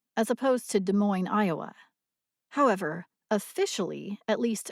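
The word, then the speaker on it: Des Moines: speaker or other factors de Mo's Washington for example is usually pronounced by locals with the S at the end of the name as opposed to De Moine Iowa however officially at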